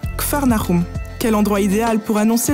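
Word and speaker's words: Kfar Nahum: général de son ministère en hébreu kernaum veut dire village du réconfort on le prononce kfarnarum quel endroit idéal pour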